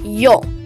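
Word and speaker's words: Ё: umblot or diarises but it is actually pronounced as yo a letter which makes two sounds it is not really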